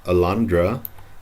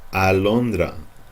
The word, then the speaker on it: alondra: This is not alondra, it's alondra. Grano de trigo, alondra.